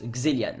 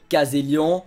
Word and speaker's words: Kzelian: mais ça se prononce xelian voilà Xian Xian Xian Xian pas caséan xéian xelian x non xelian Xan vous imaginez que sur le e il y a un accent aigu et que il y